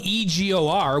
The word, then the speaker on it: Egor: And by virtue of having Travis Hansen on the show last week, we know that even though it's spelled E-G-O-R, we would all just call him Igor. Right. That it's Egor.